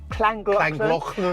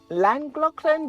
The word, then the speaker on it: Llangollen: Llangollen. A lot of people call it, say, Llangollen, but I think it is pronounced as Llangollen.